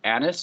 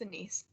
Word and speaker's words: Anise: So it's Anis, I believe, or Anis. It's Anise.